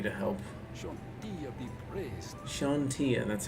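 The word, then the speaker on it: Chauntea: Shantia, that's how you say it.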